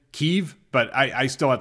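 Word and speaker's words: Kyiv: area or have and i still call it kiev by the way i can't i know they're using the the correct pronunciation keeve but i i still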